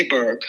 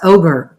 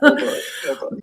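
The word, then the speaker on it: Åberg: I say Aberg. I know that's not right. And they were saying on the telecast Oberg.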